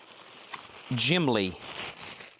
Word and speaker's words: Gimli: It's pronounced Gimli.